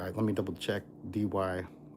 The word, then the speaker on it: Dee Why: Linda lives in Dee Why, New South Wales. So, there's a suburb of Sydney called Dee Why.